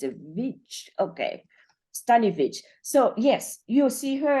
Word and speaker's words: Staniewicz: how do you pronounce it how do you pronounce your last name sunny study oh stanivitch yes okay okay so it's a beach okay stanovich so yes you'll see her as stanovich